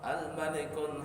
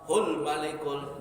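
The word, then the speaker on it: الملكُ: tambahin La ilaha illallah al-malikul haqqul mubin Muhammadun Rasulullah sadiqul wa'dil amin. Tapi orang kadang salah bacanya La ilaha illallah hul malikul, bukan hul malikul. Al malikul saja.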